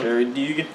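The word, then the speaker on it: Gerry Duggan: Jerry Dugan. I gotta tell him how to pronounce his name.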